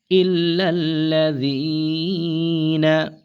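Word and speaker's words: إِلَّا الَّذِينَ: উচ্চারণটা শেষে আসবে ইন্নাল ইল্লাললাজনা হামজা লামের ইল লাম লাম জবর লাল লামের জবর লামের সাথে ইল্লাল লাম জবর লা নুন জবর না ইল্লাল্লাজিনা ইল্লাল্লাজিনা আমানু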